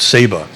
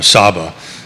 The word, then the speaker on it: Saba: We went to a different island called Saba, or Saba, depending on how you pronounce it.